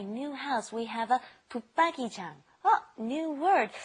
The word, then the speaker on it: 붙박이장: And watch the pronunciation. It's really hard to say. Lots of people don't even know how to spell it correctly. Okay, 옷장 is with like a D sound. This is also the same. 붙박이장 is also like a D sound underneath the put.